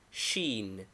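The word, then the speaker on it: شين: pronunciation as in English name Sheen equivalent s pronunciation as in English name equivalent s with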